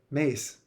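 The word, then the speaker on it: Myss: um because again um Carolyn miss mice mace I can never pronounce her name right. I'm sorry Carolyn if you ever hear this which I I doubt you will but please a please accept my apologies for um mispronouncing your last name over and over again. I believe it is Carolyn Mace.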